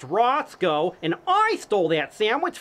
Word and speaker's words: Roscoe: It's pronounced Roscoe, and I stole that sandwich fair and square.